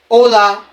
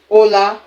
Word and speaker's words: hola: Hola, bien qu'il y ait le H. Ici là, ahora.